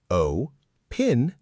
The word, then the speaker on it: opinion: The word is opinion. O-pin-yun. O-pin-yun. Try saying it slowly a few times.